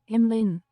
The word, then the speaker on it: Emlyn: How do I pronounce it again? Fuck. Emlyn? Emlyn. Emlyn. Ah. It's Welsh. Welsh was detected. It means jewel.